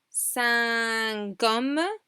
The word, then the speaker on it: cinq hommes: Cinq hommes, cinq hommes. We pronounce the Q, but we pronounce it linked to the next word.